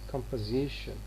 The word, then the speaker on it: composition: This o is reduced to a schwa here. It becomes composition.